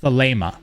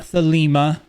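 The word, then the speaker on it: Thelema: pronounce it very simple the Lama not thalima it's the Lama the Lama originating from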